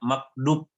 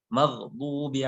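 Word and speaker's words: مغضوب: Nah, jadi maghdub ad itu seringkali juga kita bacanya makdub. Jadi kayak huruf dal. Kadang-kadang jadi ini bukan dal tapi dad. Huruf ad itu huruf yang paling susah dalam huruf al-hijaiyah. Apalagi ini di sini ada ghain mati, itu kadang-kadang kita bacanya ke G, magdub. Padahal maghdubi alaihim.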